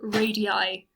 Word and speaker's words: radii: if you have more than one radius it's pronounced two radii and if you remember i said every point